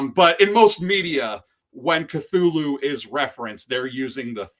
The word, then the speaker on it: Cthulhu: Yes, the correct pronunciation is Cthulhu, but your mind and your mouth always want to put the th in it, So I'll probably say Cthulhu, Call of Cthulhu.